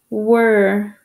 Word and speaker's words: were: writing the wrong word were w e r e were this word has one tricky part right here the e r e sounds like er strange huh the w